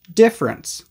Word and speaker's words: difference: first things first pronunciation all three of these words are usually pronounced as just two syllables differ different difference you do not need